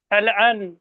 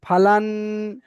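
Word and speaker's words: فلان: ফা জবর ফা, লাম নুন জবর লান, ফালান, ফাল আন, ফাল আন নয়, ফালান।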